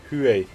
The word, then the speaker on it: Huey: HU-1 se prononce approximativement Huey.